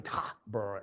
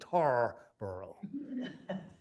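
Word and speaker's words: Tarboro: the colonist and so it's not going to be T bur anymore it's going to be tar burrow so the crown and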